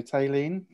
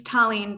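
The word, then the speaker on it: Taleen: get ready colin so tayleen hi there um can you hear me yes we can thank you yeah have i pronounced your name correctly it's tallinn but close okay so i'm sorry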